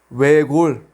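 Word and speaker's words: 외곬: Ahora la 받침 dupla 르스. Solamente pronunciamos la primera consonante 르. 외골.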